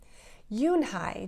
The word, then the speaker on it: Unhei: miss and it means grace mr kim added yoon hai joey said slowly and this time perfectly it